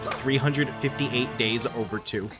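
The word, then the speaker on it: 358/2 Days: I say its name wrong on purpose, but it's actually supposed to be pronounced 358 days over 2.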